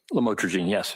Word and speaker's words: lamotrigine: Did I pronounce that right? Lamotrigine, yes.